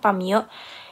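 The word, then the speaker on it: 파묘: Jenis tandanya itu merupakan simbol, makna denotasinya itu merupakan judul film, yang dalam Hangul itu dibacanya Pamyo, yang artinya penggalian, dan dalam bahasa Inggris namanya Exuma.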